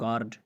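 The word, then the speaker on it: guard: अगर किसी लफ्ज़ में यू के बाद ए या ही आता है तो यू हमेशा साइलेंट होगा। यू के बाद ए आए या ई आए, जैसे आप कहते हैं गार्ड, यहाँ पे यू के बाद ए है, चौकीदार को कहते हैं,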